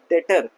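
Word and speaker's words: debtor: मैं क्या बोल रहा हूँ, डेटर, नॉट डेप्टर। तो यहाँ पे बी क्या है हमारे लिए, साइलेंट हो गया बी, है ना।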